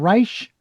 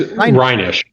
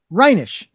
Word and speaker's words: Reinisch: Pronounce your last name for me again. Reich. It's Rhinish. Reinish.